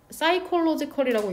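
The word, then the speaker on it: psychological: 우리가 되고 싶어하는 환경적인, 신체적인, 얘는 사이콜로지컬이라고 읽는다.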